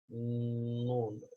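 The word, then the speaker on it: ن: And again, the tongue is placed on top of the palate of the mouth, on the top layer. And how do you know you're pronouncing it correctly? Look at the vibration. Where's the vibration? The image is showing you vibration, and it's coming from the nose.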